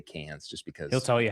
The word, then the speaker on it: Cannes: He's won Con. I believe you say Con. But I like to say Cans just because he'll tell you how to say it.